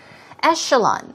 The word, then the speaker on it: echelon: new word for you Ascalon that's ec h ELO n but it's pronounced with an SH sound we'll practice that later